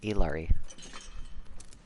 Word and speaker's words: Ilari: her to the rift yep that's exactly how you would pronounce it artificer ilari I thought it was